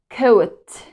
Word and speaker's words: coat: When O and A come together, we don't pronounce the second vowel. It's silent, but we make the first one long, right? This is long O.